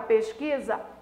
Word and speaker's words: pesquisa: Então, na palavra pesquisa, há um encontro consonantal? Sim. E um ditongo? Não. Por que não há ditongo? Porque o U não é pronunciado, o U não é